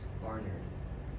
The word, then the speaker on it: Barnard: Yeah, it's Barnard. You don't So- enunciate the A so much. Yeah. So the first AR is spelled like is pronounced like AR. Yeah. Then the second AR should be an ER.